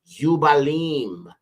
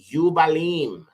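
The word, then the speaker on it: יובלים: the apocryphal books now jubilees is actually would be pronounced yalim yalim which means Rams horns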